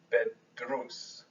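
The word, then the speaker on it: بيدرس: Notice though, in the present tense, we say bedrus. Here, if you take away the ba part, it's just drus. That's a single syllable with an oo vowel.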